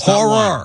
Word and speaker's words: horror: Horror. Horror story. Two syllables. Horror.